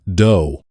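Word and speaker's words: dō: What the samurai called a do pronounced do.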